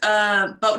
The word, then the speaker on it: Boatin': How do you spell that song, Boatin Up Sandy? Where's Elizabeth's one? The first word that you're saying, is it boatin'? Boatin', yeah, like a boat, like you're boating up Sandy, but it's with a apostrophe.